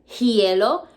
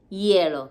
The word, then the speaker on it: hielo: eskia ice in spanish remember that h in spanish is silent so we don't say el hielo are supposed to just say like the h is not even there el yellow say it ice skating